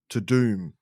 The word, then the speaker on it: Tudum: I too would have called it dumb because that's how it's spelled. But everyone, the hosts, everyone make sure to say to doom.